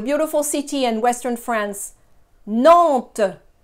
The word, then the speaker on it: Nantes: Nantes. Nantes. Again, the S is not pronounced. It's not there. Pretend it's not there.